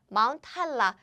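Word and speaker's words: 한라산: And there you can find this Mount Hala. This is the highest mountain in South Korea. Highest mountain. Yes. And there is a perfect example of flowing.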